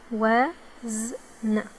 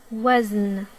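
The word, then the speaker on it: وزن: And the Zay, as you can see, it has sukoon, so no vowels while pronouncing it. Let's give it a try. Wa, wazn, wazn, wazn, wazn.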